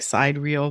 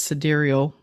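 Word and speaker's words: sidereal: about this yeah and this one was about cederal which looks like it's spelled like side reel but it's cederal um astrology and it's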